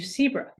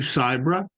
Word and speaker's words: Sibra: Sibra. That's close. It's Sibra, but in any case, thank you very much, Peggy, and I'm glad to be here.